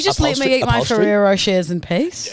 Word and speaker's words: Ferrero Rocher: Like, Can you just let me eat my Ferrero Rochers in peace? It's got to be Ferrero Rocher. Ferrero Rocher. You're saying Ferrero. You're saying What? Ferrero Rocher. It's like you're pronouncing the last R's.